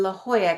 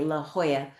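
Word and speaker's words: La Jolla: And we went and investigated um a place in La Hoya, California. La Hoya is spelled L L A new word. J O L L A. La Hoya.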